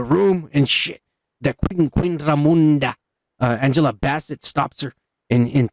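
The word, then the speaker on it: Ramonda: And then Queen Ramunda, she's dealing with the pressure because Ramunda, Kike, fuck you. Well, it has an O, not a U. Oh, you know what? You're right. Ramunda.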